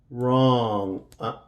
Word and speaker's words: wrong: So we're going to, the W is silent and the E will be silent also. Right, right. Wrong, wrong.